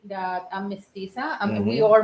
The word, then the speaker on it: Mestiza: what is it? How you pronounce it? What? Your culture. Mestiza. Mestiza. That's right.